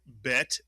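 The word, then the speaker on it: בית: But the bet is one of the three letters that is pronounced differently with or without a dagesh, the dot inside, and the bet, of course, has the dagesh. This is the letter bet. Take a dagesh out of the bet and you get the vet. It's really a bet that makes a v sound.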